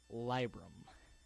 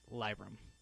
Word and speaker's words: Libram: I know lie is spelled L-I-E, and Trade Chat said Libram. Well, the one thing I see a problem with is that Lee comes out looking L-E-E to me, so I pronounce it Libram.